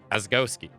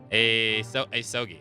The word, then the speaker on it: Asogi: Asgowski. Dude, I forgot how to pronounce that again. Asogi.